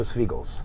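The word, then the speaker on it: Svigals: Alicia Swiegels. Swiegels.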